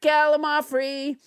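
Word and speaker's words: gallimaufry: hair let's never forget galimar free which i pronounced wrong until nobody james harder corrected me it's a noun that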